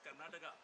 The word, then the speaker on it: Karnataka: Is it Karnataka? What is the name of that particular, this? Karna? Your Lordship, it's Karnataka. Ah, that is a. Your Lordship. Pronounce it as Karnataka.